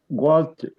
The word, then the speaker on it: walked: Pronunciación Okay. es ed. Walked.